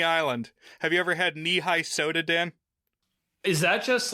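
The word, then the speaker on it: Nehi: Have you ever had knee-high soda, Dan? Is that just like a... It's a brand. So it's spelled N-E-H-I, but they pronounce it knee-high.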